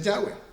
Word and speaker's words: Yahweh: Estas son Yud, Hei, Bab, Hei, cuya pronunciación es Yahweh.